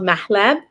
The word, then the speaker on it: mahleb: special unique seasoning and it's called mahleb that's how you say it in arabic and these are the